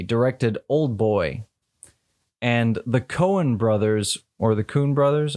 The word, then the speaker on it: Coen: the Coen brothers directed Coen. Yeah, that's what I thought. I've just been in the Netherlands too long, where the way you pronounce OE is oo, not oe.